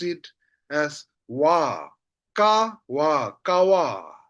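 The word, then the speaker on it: ཀ་བ: Then see here, kawa, kawa. When I say kawa, two syllable, ka and wa. That's why the second syllable is pa. That's why we read them as wa.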